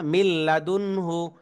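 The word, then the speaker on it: مِن لَّدُنْهُ: এখানে কিন্তু আমরা এই নুন সাকিনকে পড়বো না, কারণ তার পরের হরফে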